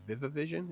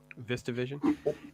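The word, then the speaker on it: VistaVision: Its camera technique is very groundbreaking for its time to I think it's called viva vision is that the right way to pronounce it vista vision and it is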